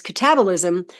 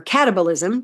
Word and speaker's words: catabolism: And then there's catabolism or catabolism, depending on how you want to pronounce the word.